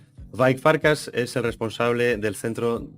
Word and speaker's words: Vajk Farkas: nuestro invitado de hoy es vi farcas pronunciado bien vi farcas es el responsable del